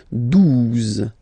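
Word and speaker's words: douze: exist phonetically, 11, okay, 12, 12, O, U, the two together will give you the sound OO, okay, and then Z, 12, 12, alright, then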